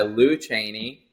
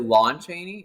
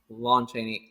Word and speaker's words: Lon Chaney: by lou chaney um wait i mean is it lon chaney wait i think i've been saying his name wrong this entire time why did i think it was lou oh okay it's lon chaney that that sounds really